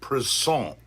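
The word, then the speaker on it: Présent: band's name is pronounced preson it's spelled the same as the word present so they're a band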